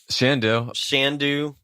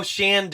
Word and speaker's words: Shandu: So this is Shandu, right? Shandu. Oh, Shandu. It's got because it rhymes with can do.